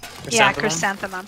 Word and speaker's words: chrysanthemum: Who needed the chrysanthemum? Brianna. Brianna did. Chrysanthemum. That's how you say it, right? Chrysanthemum?